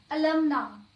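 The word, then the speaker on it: alumnae: For example, अलमना, एलमना, ठीक है। अलमनी, अलमनी, इसे कैसे प्रोनाउंस करेंगे, ल बहुत छोटा सा बोलेंगे, अलमनी।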